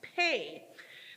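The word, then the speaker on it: פ: gonna be up there it's p e but it's pronounced pay pay also means mouth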